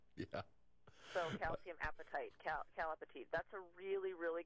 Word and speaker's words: apatite: So I know it's a weird name, but if you think apatite is spelled like appetite, yeah. So calcium apatite, calapatite.